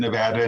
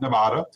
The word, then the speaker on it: Nevada: and then also nevada you said nevada not nevada and that's good because i must say anyone who comes to our state and mispronounces it might get up charged so thank you so much for pronouncing the state correctly as well uh but